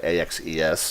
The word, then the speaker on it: axes: axes by the way ax es is how you say the plural of axis we're not dropping up